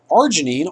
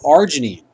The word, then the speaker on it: arginine: So arginine. Arginine starts with an A, but when you phonetically say it, the R kind of takes over.